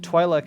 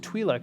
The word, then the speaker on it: Twi'lek: Much the same way that Twi'lek and Twi'lek are both acceptable pronunciations of your race. Or species, I should say. Twi'lek. I mean, I've always preferred Twi'lek myself, Yeah.